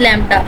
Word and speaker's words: lambda: ठीक है, ये लैम्डा है लिखा हुआ, तो इसको इस सिंबल से रिप्रेजेंट किया जाता है, शो किया जाता है, प्रोनाउंस एज लैम्डा।